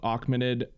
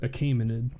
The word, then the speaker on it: Achaemenid: There was the Achaemenid. I'm mispronouncing that. Also, it's Achaemenid. I think it's a Achaemenid. Achaemenid. There you go. Verified.